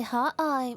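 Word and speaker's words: 可愛: Yeah, if you say hot eye, it means cute.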